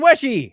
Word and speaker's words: Weshy: And Stephen Weshy, happy birthday. Pronounced like the first part of wet and the word she.